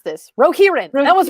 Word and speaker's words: Rohirrim: Wait a minute, I'm looking up the note of how to pronounce this. Rohirrim.